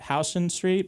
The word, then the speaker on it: Houston Street: not intuitive so like New York they got house street but it's spelled Houston so everyone's like yeah